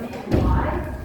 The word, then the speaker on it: May: Okay, so my name is May. Even though it's spelled M-A-Y, it is pronounced May.